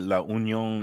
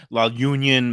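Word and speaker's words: La Unión: absolutely correct about you you pronounce it La Union it's La Union Mexican bakery there's two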